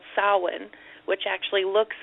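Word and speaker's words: Samhain: its the origins of uh the festival called saan which actually looks phonetically like Sam Hayne but it's pronounced sa and you know it's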